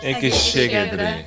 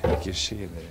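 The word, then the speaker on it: egészségedre: Ekke shegedre. Ekke shegedre.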